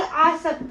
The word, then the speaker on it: आसक्त: त स और तालव श ये दंत स है आपके ये तालव श है और यहां पे आ की मात्रा है यहां पे नहीं है ये असक्त है ये आसक्त है ये दोनों के उच्चारण में थोड़ा सा अंतर है लेकिन अर्थ उसके